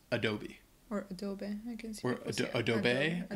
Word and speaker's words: Adobe: know from computers and it's pronounced Adobe so the first a is the schwaha sound and the e at the end is the long e sound it's not Adobe it's